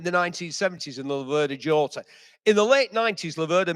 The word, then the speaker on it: Jota: And it was the Laverda Jota, this is the 1970s. Or Yota, as we're being encouraged to pronounce it.